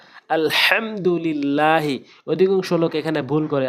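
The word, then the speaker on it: الحمد لله: লা লিল্লাহ হাজেরি লিল্লাহি লিল্লাহ বলা যাবে না আলহামদুলিল্লাহি অধিকাংশ লোক এখানে ভুল করে আলহামদু এখানে বড় হাইনে উচ্চারণ করতে হবে এবং ছোটা উচ্চারণ করলে অর্থ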